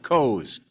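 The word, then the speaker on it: Koz: Coz. K-O-Z. It's pronounced Coz.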